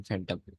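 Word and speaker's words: fathom: बोला है सही है फटम कैसे प्रोनाउंस करते हैं फटम या फटम फटम फटम एफ एफ की एफ की साउंड आएगी ना बिलकुल बिल्कुल एफ की साउंड आ गई फटम थैंक यू चलो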